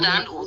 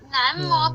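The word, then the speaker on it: 南无: 杨妈妈，南无比较接近那个真正的读音啦，我们是有边读边就念五嘛，然后检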